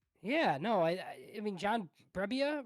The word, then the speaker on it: Brebbia: Yeah, no, I mean John Brebbia, right?